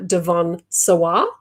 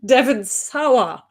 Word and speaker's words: Devon Sawa: was played by uh devon sawah how do you say it i always thought it was devin devin sawa devons or however you